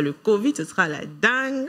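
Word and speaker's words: dengue: oui la maladie de dingue d e n g u e ok h HM causé par un moustique ça se lit Dang mais ça ça s'écrit Dang mais ça se lit dingue Ding oui ok dingue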